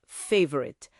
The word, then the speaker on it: favorite: A sílaba tônica é a primeira. Favorite.